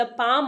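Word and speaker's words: palm: the payable in द पाम ऑफ his hand P ए एल M this is पाम यहां पर L silent होगा okay तो आप इसे प्रोनाउंस करेंगे पाम पाम का मतलब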